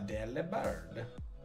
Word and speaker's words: Delibird: A Delibird. So I have been told it's pronounced Delibird. Because it's like delivered, but that sounds stupid and I hate it. I like Delibird better, because it delivers deli.